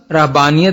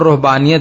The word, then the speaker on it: رہبانیت: خدمت کرتے تھے۔ رہبانیت، اس کا تلفظ رہبانیت بھی کیا جاتا ہے اور رہبانیت بھی، اس کا مادہ